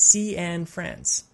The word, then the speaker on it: Cianfrance: to say his name he says it's sea and friends i just saw this